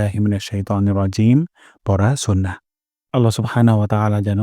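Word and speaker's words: رجيم: হয়ে যাবে এবং জিম এখানে আমরা তিন আলিফ পরিমাণ অর্থাৎ চার সেকেন্ড পরিমাণ লম্বা টান দিব রজিম রজিম আমি সম্পূর্ণটা আলিফ উচ্চারণ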